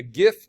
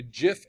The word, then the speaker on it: GIF: It is going to be a GIF or a GIF animation depending on how you want to pronounce it.